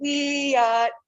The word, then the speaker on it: Wiyot: Wiyot land. Everybody say Wiyot. Oh, you sound so good. We're going to say Wiyot hello.